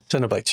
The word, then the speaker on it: Cenobites: Did I say it right? Is it Cenobytes? Cenobites. Yes, I remember.